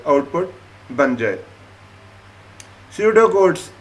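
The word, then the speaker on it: pseudocode: स्यूडो codes, ये क्या है? स्यूडो कोड्स, इनको आप प्रोनाउंस करेंगे स्यूडो कोड।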